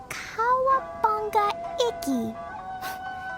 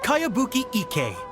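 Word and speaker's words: Kayabuki Ikkei: By Kawabunga Iki. Yoimiya, this is a really strange name. Who's this Kawabunga? It's pronounced Kayabuki Ike.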